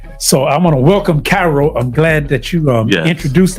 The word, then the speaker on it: Kairo: Let me ask a question just from the beginning, because you say Cairo. Yes, sir. Let's go to spell his name for me. So we spell it Kairo, not the traditional way with the C.